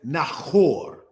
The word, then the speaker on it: Nahor: the laser pointer now is pronounced as nahor because what we want to point out if we will is that this letter here here is the letter H making a strong CH like sound so brothers and sisters